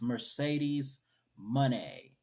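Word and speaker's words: Mercedes Moné: one Speaking of Sasha money that's how you pronounce it it's Mercedes money m-o-n-e but without the Y wow interesting at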